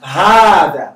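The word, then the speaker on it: هذا: So one, hada is pronounced hada, but it's written like this, like hada. Hada. But it's hada, that's not proper. Some people usually put a small alif on top just for you to know. But this is the right pronunciation. Ha. It is written without the first alif.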